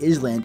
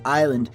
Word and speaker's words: island: There's an S in it, it's clearly island, not island, and she's like, yeah, there's an S, but the S is silent, and I'm like, then